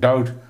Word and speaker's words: doubt: Doubt, B is silent.